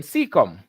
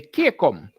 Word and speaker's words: cecum: called all right so adiplus is saying cecum and some person will say kecom and they will mispronounce it a million times but